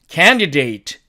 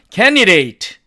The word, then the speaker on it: candidate: 자, 다음에 H번 이 단어의 사전식 발음은 candidate 이렇게 됩니다. 그런데 또 보니까 은드가 돼 있죠. 그래서 이 D를 사라지게 하고 나니까 candidate 이렇게 발음이 되죠.